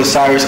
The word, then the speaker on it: Osirus: So Osirus, and then Osiris like the God, but it's spelled Osirus.